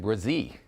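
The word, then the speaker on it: Bresee: you going with uh I'm going with Brian brazee all right how's my pronunciation fantastic job first round pick on names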